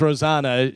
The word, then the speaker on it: Rosanna: Rosanna. She says it does not rhyme with banana. Rosanna.